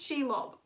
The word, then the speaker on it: Shelob: why did i call aragog shelob this is she love but i keep mispronouncing she love as aragog because i am